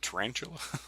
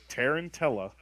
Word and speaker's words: Tarantella: didn't try isn't it is it tarantula no Tarantella okay here here write this down and say it if I'm saying it right t-a-r-a-n-t-a-r-a-n-t-e-l-l-a sounds like tarantula or turn into the Tarantella um yeah I had